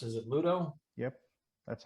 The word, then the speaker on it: Ludo: all the games um modern pluto is it pronounced is it ludo yep that's how i pronounce it yeah that's